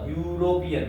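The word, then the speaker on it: European: गलत क्यों पता है क्योंकि इसका जो उच्चारण है ना वो ये ख दिखने में तो भले ही है लेकिन इसका उच्चारण आ रहा है य यूरोपियन अब चेक करो अब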